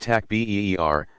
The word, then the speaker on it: takbir: Basic prayers include the takbir, saying Allahu Akbar, pronounced takbir, spoken 4 times, interspersed with longer devotional prayers calling down blessings on the deceased and on all present.